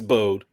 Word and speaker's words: Bode: It's Bode, and it's she was Nessa.